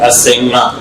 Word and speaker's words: Asenga: Asenga, c'est ça la bonne prononciation.